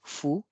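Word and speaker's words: ふ: The third one is not hu, it is fu.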